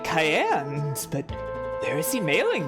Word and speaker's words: Cyan: It is pronounced Cayenne. In Japanese, his name is spelled all the way out like the pepper.